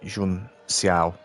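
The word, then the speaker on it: Junção: And Ant says Jun Cao is pronounced with an S, like Jun Xiao.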